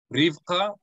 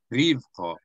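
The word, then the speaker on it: רִבְקָה: It's either Rivqa or Rivqa. Ribqah? It's either Rivqa, which is accenting the first syllable, Rivqa, yeah. Or it's Rivqa, which is accenting the second syllable.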